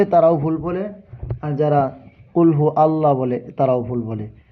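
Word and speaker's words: قل: হবে কুলহু আল্লাহু আহাদ আবার অনেকেই বলে কুলহু আল্লাহ কুল নো কুল পড়া যাবে না কুল কফ লাম পেশ কুল এটা বড় কফ কুলহু আল্লাহু আহাদ দেখেন কুল মানে বলা আর কুল অর্থ আরেকটা তাহলে আপনি যদি কুল পড়েন এই যে কুল কুল যদি পড়েন তাহলে অর্থ সরাসরি পরিবর্তন হয়ে যায় এজন্য সাবধান কোরআন তেলাওয়াত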